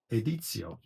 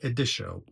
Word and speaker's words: Editio: And Machina, Aranea Alba Editio, not editio, editio, because it's Latin.